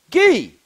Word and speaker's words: Guy: behemi they would say father guy but G in this case is Le Fran it's French and you don't pronounce French name like that who's father G Frankie